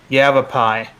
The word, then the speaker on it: Yavapai: All right, so now it's Pinal is red, and I'm going to mispronounce this county name. Yavapai. No, that's correct.